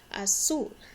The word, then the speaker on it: azul: Azul. Azul is blue. Azul. The Z isn't quite as strong of a Z sound for me in Spanish. Azul sounds a little bit closer to a hard S sound.